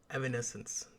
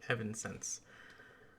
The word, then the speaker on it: Evanescence: close to that of evanescence the name I have pronounced wrong for 13 years because I've always called it Evans sense anyway let's continue um